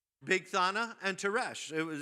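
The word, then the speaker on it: Bigthana: And you know how they get pronounced? Big Thana and Tes.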